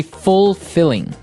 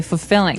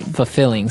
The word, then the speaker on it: fulfilling: pronunciation you don't say fulfilling no you say fulfilling fulfilling so the L there is kind of Silent kind of optional but um maybe you